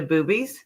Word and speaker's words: Bubes: But it's spelled Bubes. It's not okay.